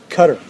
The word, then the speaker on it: Qatar: Well, excuse me, Cutter Royal Family. That's the pr right pronunciation.